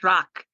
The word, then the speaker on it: Drache: Yeah, as far as my last name is pronounced Drache. It's Drache, German.